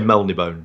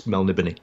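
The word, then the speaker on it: Melniboné: Most people say Melnibone. It's Melnibony.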